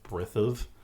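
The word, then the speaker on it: brithem: M, a broad M that is lenited, that is softened. So brithav is B-R-I-T-H-E-M. So brithav with that soft M.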